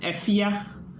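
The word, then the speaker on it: Fefye: the singer is f-e-f-y-e i i pronounce it effia if yeah yeah man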